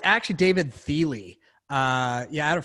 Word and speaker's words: Thiel: oh it's actually David Thiel II yeah I had a friend of mine who has the exact same last name but she pronounced her last name differently it's david feely yeah and the spelling